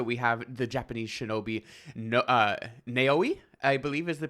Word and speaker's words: Naoe: So we have the Japanese shinobi Naoi, I believe is the pronunciation, Naoe.